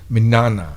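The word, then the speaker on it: Mignogna: um so so so Vic's last name is minana minana yeah well good luck because I I don't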